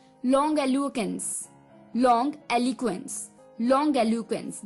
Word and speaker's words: longiloquence: Long एलिक्वेंस, long एलुकेंस। जी हाँ दोस्तों, ये पूरा एक लंबा वर्ड है, लॉन्ग एलिक्वेंस। LONGILOQUENCE, long एलुक्वेंस, long एलुक्वेंस। इसकी प्रोनाउंसिएशन है लॉन्ग एलुक्वेंस, LONGILOQUENCE, लॉन्ग एलुक्वेंस।